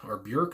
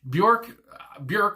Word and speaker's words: Björk: So next, with 12, we have Björk, I guess I should say, and Venus as a Boy.